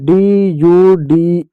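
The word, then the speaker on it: dude: ह कौसर इ है इ है साइलेंट होगा यू का यू कर दो आधा ड कर दो तो आधा ड यू ड ड्यूड हो जाएगा क्या हो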